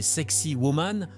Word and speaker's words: Sacsayhuaman: Surplombant Cusco au Pérou, Sacsayhuaman, prononcé Sexy Woman pour simplifier, impressionne par sa conception ingénieuse et sa construction monumentale.